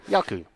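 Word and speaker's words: Jaco: Actually, you spell it with a J. But it's Yaku. J-A-K-O, yes. Yeah, Yaku.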